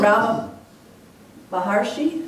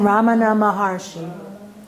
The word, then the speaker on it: Ramana Maharshi: And Rama Maharshi, is that how you say his name? Ramana Maharshi.